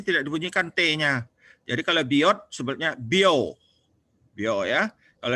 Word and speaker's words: Biot: Bahasa kitanya bacanya Biot. Dia ini orang Prancis. Kalau orang Prancis, T-nya kalau bisa baca huruf itu ya. Kalau ada T di belakangnya nggak dibunyikan. Jadi kalau Pak Biot ini bacanya Bio.